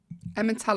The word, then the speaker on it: Emmental: Emmental. How do you say it, Will? It's Emmental. I know what you mean, though.